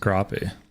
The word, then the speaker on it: crappie: instead of an a I believe it's pronounced crappy it's pronounced crappy just like scallops of course well scallops